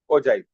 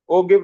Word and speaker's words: ओजाइव: ओजाइव। ओगिव नहीं बेटा, वो सही प्रोनाउंसिएशन ओजाइव है वैसे तो।